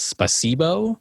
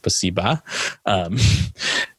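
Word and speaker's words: спасибо: At one point, someone says spasibo because they're trying to speak Russian. And it's just the worst, like British accented way of saying, and I'm pretty sure it's properly pronounced spasiba.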